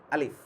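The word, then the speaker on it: ألف: মূলত এটা আমরা আলিফ যদিও বলি, এটার উচ্চারণ হয় হামজার মতো।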